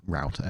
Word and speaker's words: router: be rter oh yes roter is how the the Brits say router I I I just